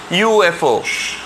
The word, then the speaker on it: UFO: तो देखो यहाँ पर UFO में यू, वाई, ओ, यू, ऐसा यू का प्रोनाउंसिएशन आता है, मतलब वाई का प्रोनाउंसिएशन आता है, यू का नहीं. Okay, UFO.